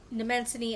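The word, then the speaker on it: Mnemosyne: Nemens. So, the M is silent.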